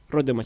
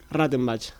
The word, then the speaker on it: Rattenbach: se había desclasificado el informe de Rottenbach, siempre lo pronuncio mal, de hecho. Y ahí, bueno... En realidad es Rattenbach, bueno, que era un general del...